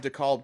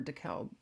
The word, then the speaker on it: DeKalb: Someone CEO of DeKalb County, Georgia, from 2004. What? How do you say what county? DeKalb, DEKLB. DeKalb. It's not DeKalb. DKALB.